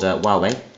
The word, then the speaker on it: Huawei: So this dongle is made by a company called, well, I had to look up how to pronounce it. It's made by a company called Huawei, which is a Chinese company.